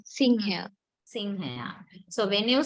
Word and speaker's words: සිංහයා: But how do we pronounce it? Do we say Sinhaya? No, we say Singhaya. Singhaya. Nga. So that nga sound comes in the middle of the word.